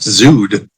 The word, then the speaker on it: Zod: are you talking about it's spelled correctly it's just pronounced zud the first Easter egg